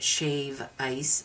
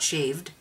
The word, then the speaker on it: shave ice: And yes, it's pronounced shave ice, not shaved.